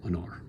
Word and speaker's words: honor: In this case, the final syllable must be strong because it needs to take the rhyme, and so it becomes honor.